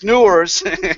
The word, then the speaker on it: Neurs: doesn't get any easier, because Neurs, and I say it wrong, entrepreneurs, but it's Neurs.